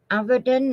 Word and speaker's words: Avedon: then it's a v e d o n avadon or evening and I pronounce that I was an artist in what